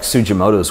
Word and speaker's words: Sugimoto: But I think much like Sugimoto's work, who's, you know, I obviously, or Sugimoto is how you pronounce it, who I covered in a couple